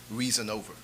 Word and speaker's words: Reasonover: His last name is Reason, the word reason and over together. So it's spelled just like it sounds, Reasonover.